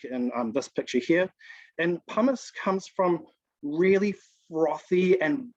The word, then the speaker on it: pumice: it's really light um it starts with a p and it rhymes with uh the word hummus um it is called pumice tahuata that's right so